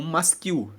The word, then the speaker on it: masquil: Salmos são masquil o que é um masquil se escreve m a s q u i l masquil são palavras de instrução são Salmos que